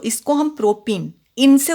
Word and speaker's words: प्रोपीन: 3 carbon वाले को प्रोपेन बोलते हैं, लेकिन यहाँ पर एक द्विबंध है, आपको दिख रहा है, ठीक है। तो इसको हम प्रोपीन, इनसे उच्चारण होगा।